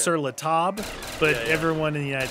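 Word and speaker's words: Sur La Table: table it's on top of the table it's pronounced sir latab but everyone in the united states says sirla table which sounds ignorant but anyway so that's where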